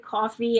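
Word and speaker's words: Ko-fi: tell me then about the co is it Kofi yeah Kofi coffee I don't know everybody pron oh okay yeah I didn't know how to pronounce it oh coffee I like coffee all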